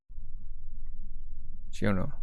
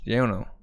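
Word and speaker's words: Giorno: Yeah, Italians don't pronounce J's. Giono. So yeah, Giono.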